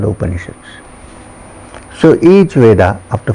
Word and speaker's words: Upanishad: Upanishad, it has 3 syllables, Upa, Ni and Shad.